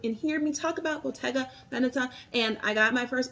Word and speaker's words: Bottega Veneta: And that is how you say it. Bottega Veneta. It's Italian.